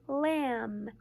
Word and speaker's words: lamb: gold o LT and the one we're learning today is hmm in lamb and B mmm in lamb and B and you